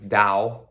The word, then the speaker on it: Tao: kune do so yes the tao is is is dao um that's how you say it so it's the dao